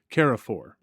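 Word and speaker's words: Carrefour: And here comes, and could you help me with the pronunciation of his name? Carafor? Carafor.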